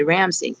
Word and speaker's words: Ramsingh: RAM as in Mary, SIN as in Nancy, GH, okay? It's pronounced Rhonda Ramsingh.